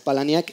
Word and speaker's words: Palahniuk: Perdón, la novela de Chuck Palahniuk, que es como se pronuncia.